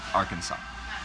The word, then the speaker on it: Arkansas: of a similar one since the letter s at the end of the french words usually silently pronounced bill clinton's home state arkansas there you go